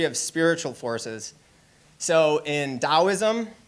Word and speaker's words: Taoism: So in Taoism, it's spelled with a T but pronounced with a D.